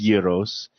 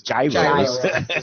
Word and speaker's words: gyro: pronunciation I you know I grew up in uh in Brooklyn and in Queens in Queens it was Yos in Brooklyn and parts of Staten Island it was gyro gyro and it still is